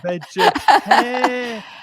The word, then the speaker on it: vegetarian: Vegetarian. It's Rian. 5 5. syllables. Uh-huh. And the Mm-hmm. stress moves to the middle finger, the middle syllable.